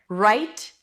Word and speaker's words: write: So, here they're pronounced exactly the same. It's an R sound. You don't really hear the W when it's before an R. It doesn't really exist.